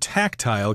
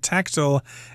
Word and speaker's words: tactile: I should mention that the word tactile can be pronounced both tactile and tactile. Personally, I prefer tactile, but tactile is equally correct.